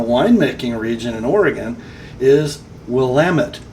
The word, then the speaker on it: Willamette: valley and a winemaking region in Oregon, is Willamette, not Willamette, as I have been guilty of mispronouncing the word.